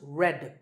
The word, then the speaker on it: read: spelled re ad but pronounced red like the color of red so you might be